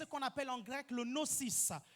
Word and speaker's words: Gnosis: appelle en grec le nocis G n o s i s le Gnosis ok le noosis on ne prononce pas le G G n o s